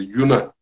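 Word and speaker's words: יונה: İbranice'de Yuna.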